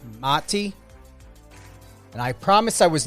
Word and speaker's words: Mati: It's very important to know how to pronunciate. And I get it. You know, sometimes you don't correct, but it's Mati.